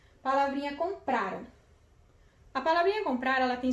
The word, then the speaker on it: compraram: E como terminam em ram, a sílaba tônica é o pra. Então, no caso, ela é uma paroxítona.